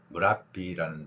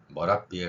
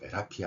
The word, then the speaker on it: Merapi: 인도네시아 현지에서의 사용되는 그 MERAPI로 표기된 무라비라는 산은 인도네시아 현지인의 발음에서는 무라비 혹은 머라비에 가까운 발음입니다.